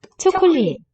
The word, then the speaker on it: 초콜릿: 초콜릿, Chocolate. Very hard to hear. So here with that s letter, shiot, will be pronounced as a t, but here, 초콜릿, not really detectable.